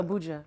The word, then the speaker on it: Abuja: Sorry if I'm pronouncing it bad. No, you said it perfect. Yeah. Abuja.